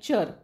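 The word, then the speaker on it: -ture: टी यु आर इ चर चर नावाचा हा एक सफिक्स आहे टी यु आर E spelling आलं की त्याचा उच्चार चर होतो जसं की पिक्चर वेंचर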